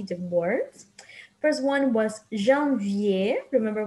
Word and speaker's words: janvier: First one was janvier. Remember, we don't pronounce the R here on janvier.